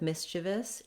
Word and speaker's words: mischievous: So I would say the challenge with mischievous is that the spelling is a little bit misleading, particularly in this IE syllable. It kind of looks like it should be E or another sound.